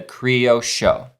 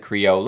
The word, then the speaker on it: criollo: to pronounce it the Creo Show. Yeah. But it's spelled, you know, you would think you'd pronounce it creole or creo or creo because of the double L thing, but it's creo show.